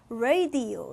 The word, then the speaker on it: radio: 걔네는 어떻게 읽겠어? radio 이렇게 읽는다. 선생님 오늘 좀 발음 좀 돼? radio 이렇게 읽는단 말이야.